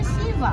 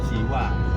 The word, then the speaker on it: Siwa: Siwa aja Siva kan. Ya, Siva. Visnu, Siva, Brahma. Kalau Jawa Siwa. Ya. Karena sudah ejaan Indonesia, ejaan Jawa menjadi Siwa.